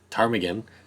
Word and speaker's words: ptarmigan: would assume the pt assumed that the p is silent tarmigan spoke up and offered